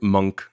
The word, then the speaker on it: Munch: over to Williamstown to talk about the Edward Munch Trembling Earth exhibit. Edward Munch Trembling Earth. Munch, yeah, it's spelled like Munch, but it's Munch in his Norwegian pronunciation.